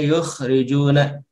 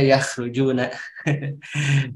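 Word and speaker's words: يُخْرِجُونَ: Ini, ya, dibacanya yukhrijuna, dari kalimat akhraja yukhriju. Itu dibentuk fi'il madinya, ini adalah bentuk sulasi mazid, ya. Bentuk sulasi mazid, wazan af'ala. Ya, karena nanti akan berbeda kalau kita bacanya yakhrujuna. Yakhrujuna. Kalau yakhrujuna, mereka keluar, gitu. Kalau yukhrijuna, mereka mengeluarkan, gitu, ya.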